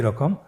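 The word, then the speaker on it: ر: পরবর্তী আরো দুটি হরফ দেখতে একই রকম। দুইটি হরফের নাম হল র এবং যা। র এবং যা। র হরফটি এখানে আমরা পুর করে উচ্চারণ করব। মোটা করে উচ্চারণ করব। এবং র হরফটি এক আলিফ টেনে পড়ব।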